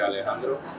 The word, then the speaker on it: Alejandro: got to say is thank you Lady Gaga cuz that's how people know how to say my name right Alejandro um so so I